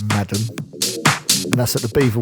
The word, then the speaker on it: MADM: I think it's pronounced Madam.